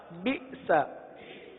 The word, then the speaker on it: بئس: پڑھیے، با حمزہ زیر بی، سین زبر سا، بئس. کیا پڑھیں گے؟ جھٹکا دے کر پڑھیں گے، بئس.